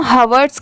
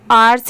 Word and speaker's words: hours: तो H दिया हुआ है, तो इसे हम हवर्ड्स क्यों नहीं पढ़ेंगे? क्योंकि H की तो साउंड ह से आती है। तो देखिए यहाँ पर भी इस वर्ड में भी लेटर H साइलेंट है, इसे सिर्फ OUR आर्स ही पढ़ा जाता है, OURS, आर्स।